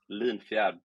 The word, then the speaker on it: Linfjärd: uh my name is last name is Lynnfield it's weird so you don't have to say